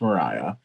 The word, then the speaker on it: Maria: it's the story of mariah spelled like maria but she says in the book that it's pronounced mariah and she's had a